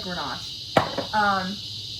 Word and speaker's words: Grenache: So this is a Grenache, but it's an actual red Grenache. They say you say Grenache. I've been saying it wrong.